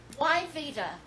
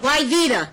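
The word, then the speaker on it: Wyveta: Why Vita? How do you spell that? I know, it's terrible. Why Vita? Yes, ma'am. W. Good Southern name. Ignore the W.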